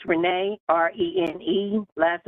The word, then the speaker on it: Renee: you state your name state your name um spell it for the record please yes ma'am it's Renee re NE last name is n e